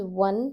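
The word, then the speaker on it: ओ: So number 10 has one single slant arm on the top and number 11 has two arms on the top. This is the difference. O is number 10. Sounds like O for orange.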